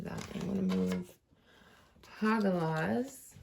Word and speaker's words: Hagalaz: I'm going to move Hagalaz, which I never actually thought it was pronounced like that, but I did look up how to pronounce all the runes before we started.